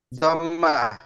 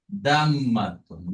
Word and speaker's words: ضمة: দম্মা। দাম্মাতুন। মাশাআল্লাহ, দাম্মাতুন বা দম্মা। সারা। দম্মা, ঠিক আছে? তাহলে কি হলো? রাতুন। ফাতহা, কাসরা, দম্মা। বলেন। দাম্মা। ফাত- জি, দাম্মা। ফাতহা, কাসরা, দম্মা। ফাতহাতুন, কাসরাতুন, দম্মাতুন।